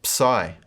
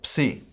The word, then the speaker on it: psi: with a shorter stem this sound since i mentioned poseidon is actually a ps sound as in lips or poseidon so this letter is